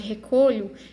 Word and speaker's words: recolho: Agora, se ela for átona, tiver um som fraquinho, como é no caso de recolho, recolho. O lhu aqui, ele tem um som fraquinho, então é uma sílaba átona.